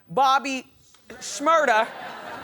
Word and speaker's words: Shmurda: year old rapper named Bobby Shmurda which rhymes with murder has to say until